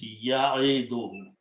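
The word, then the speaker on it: يعد: Now also, waw is a weak letter. We don't pronounce. Okay, we can drop in the tajweed or pronunciation. So this becomes ya'idu.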